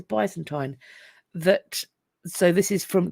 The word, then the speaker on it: Byzantine: period which I think some people pronounce Byzantine but I've always heard it as Byzantine that so this is